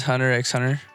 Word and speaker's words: Hunter x Hunter: He pronounced the x in Hunter x Hunter. Well, if you're a real fan, you don't really do that, but I mean, some people do.